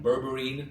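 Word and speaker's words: berberine: Bourberine.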